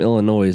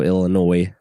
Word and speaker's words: Illinois: she said he's from Illinois, and I was like, I'm sorry, I don't mean to be that guy, but the S is silent at the end.